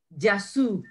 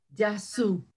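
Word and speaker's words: Γεια σου: En cambio, hoy, en la actualidad, es solamente yasu. Yasu, es con la Y, A-S-U, yasu.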